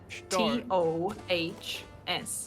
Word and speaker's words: Stoß: SHTOHS. Okay, you spelled it, and that makes it worse. Stors. Yes. Stors. Without the R.